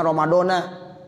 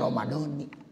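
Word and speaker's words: رمضان: Mestinya bacanya Ramadana gitu. Ya saya sampaikan tuh alasan-alasannya. Sekarang udah banyak yang pada ikut semuanya. Ya, bacanya Ramadhani. Nah seperti itu. Ya, jadi bukan nawaitu shauma ghadin an adai fardhi syahri ramadhana hazisana gitu. Tapi nawaitu shauma ghadin an adai fardhi syahri ramadhani hazihi sanati.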